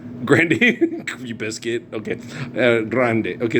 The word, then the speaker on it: Grande: Grandy. Grandy? You biscuit? Okay. Grande.